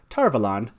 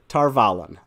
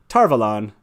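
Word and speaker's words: Tar Valon: again say this word tarvalen that is correct whether or not it's canon pronunciation i don't care robert jordan just said tarvalon which he thought was quite evident so uh hopefully those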